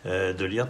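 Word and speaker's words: de Ligt: ma taille de l'IRT si on prononce à la Néerlandaise de lire qui sauve sur cette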